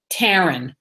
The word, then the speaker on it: Taryn: am I recommended someone her name happened to rhyme with mine Taryn I'm she was Taryn Taryn knew a little